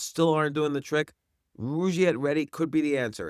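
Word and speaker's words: Rugiet: And Rouette is spelled r u g like rug and I t.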